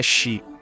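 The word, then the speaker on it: 死: Em japonês, o número 4 pode ser pronunciado shi, e a palavra para a morte também é shi. Apesar de serem representados por diferentes kanjis, eles possuem o mesmo som.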